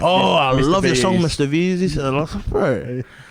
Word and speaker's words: MRVZ: But yeah, that's how it's pronounced, Mrvz. The whole reason why I took the A out was because there were so many other artists out there that was named Mrvz but with the A.